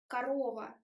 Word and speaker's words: корова: Pay attention that the last syllable, is wide, корова, but first o is like sound shwa, it's o, корова, корова. It's not корова or корова, it's корова.